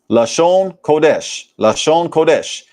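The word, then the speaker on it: לשון קודש: Their pronunciation of the Hebrew phrase Lashawan Qadash. Lashon Kodesh, meaning holy tongue or holy language.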